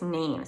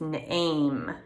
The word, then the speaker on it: name: When there's an E at the end, it makes the the vowels say it's name. So it's not nam or NAMI, it's name. The E is silent.